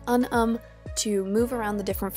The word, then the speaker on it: Unum: I use Visco, a program called Unum, I think it's how it's pronounced, it's U-N-U-M.